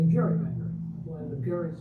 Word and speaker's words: gerrymander: A political cartoonist at the time exaggerated the shape into a dragon like creature softened the hard G and called it a gerrymander blend of Jerry's name Salon.